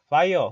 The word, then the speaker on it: via: 바이어 혹은 비아 두 발음을 다 하긴 하는데 뜻은요 장소를 나타낼 때는요